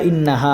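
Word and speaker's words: إنها: আছে এরপরে ইন্নাহা শব্দটা ইন্নাহা হামজা নুনের ইন এখানে এই নুনের মধ্যে ওয়াজিব গুন্না হবে কি গুন্না হবে ওয়াজিব গুন্না হবে যেটা আমরা নাকের বাসি হইতে গুন্না উচ্চারণ করব ইন্নাহা হা আলিফ জবর হা এখানেও কিন্তু এক আলিফ টান হবে ইন্নাহা আলাইহিম মুসাদা ঠিক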